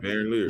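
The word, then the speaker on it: Van Lier: day, same year, 3-time NBA All-Star Norm Val Lyer. I think that's how you say his name. Norm Van Lyer More died Van at 61. Leer. Van Leer.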